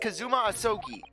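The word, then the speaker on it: Kazuma Asogi: it's my best friend's name not mine it's pronounced kazuma osoki i actually believe this armband in some way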